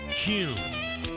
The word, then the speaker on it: Kuhn: And now, I'm going to share the absolute right way to pronounce Kuhn flowers. It's Kuhn.